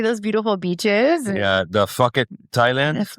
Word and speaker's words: Phuket: Phuket. It's not Phuket. It's fuck it. PH is F.